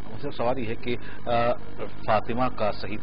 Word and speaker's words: فاطمہ: سوال یہ ہے کہ فاطمہ کا صحیح تلفظ کیا ہے؟ فاطمہ بھی عام طور پہ لوگ کہہ دیتے ہیں، فاطمہ صحیح ہے یا فاطمہ صحیح ہے؟ دیکھیے، فاطمہ تا کے زیر کے ساتھ ہے، فاطمہ تا کے زبر